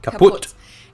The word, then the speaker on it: kaputt: We spell it with 2 T's in Germany, but we pronounce it the same way. Kaputt.